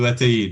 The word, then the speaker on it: Ataíde: QUINTA do ATAÍDE, yeah. ATAÍDE, 3 syllables, ATAÍDE, right?